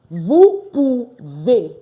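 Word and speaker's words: vous: to use vu and I will say vuve vu meaning what you can you see that it's pronounced vu vu you can all right so let's start from the topo V.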